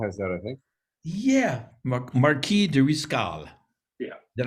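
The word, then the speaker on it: Marqués de Riscal: it's uh reservation has that i think yeah marquis de riscal yeah that's how you pronounce it and so i finally asked one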